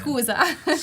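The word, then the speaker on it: scusa: Schooza.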